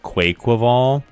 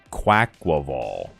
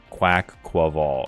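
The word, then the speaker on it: Quaquaval: pronunciations on stream and everybody thought it was pronounced qu quival and according to the Poke according to tpci according to the Pokemon people themselves it's pronounced quack qual quack qual and I was like oh okay yeah quack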